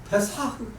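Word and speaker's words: פסח: 유월절이라는 단어의 영어 표현은 이미 여러분들이 잘 아시는 바와 같이 패스오버이고 히브리어로는 페사흐라고 발음되는 단어로서 페사흐 그 의미는 건너뛰다 넘어가다라는 의미라서 한자어로 W 건널월 마디절 그래서 유월절 우리말 표현이 얼마나 좋습니까?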